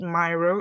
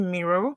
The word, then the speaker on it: Miro: corrections I think um in your pronunciation you said Myro it's actually Miro so all again some